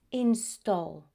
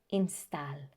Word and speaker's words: install: A and L together, most of the times the pronunciation is that of all. For example, all, call, tall, fall. So be very careful because the pronunciation is not always, it's always, almost, already, install, never install.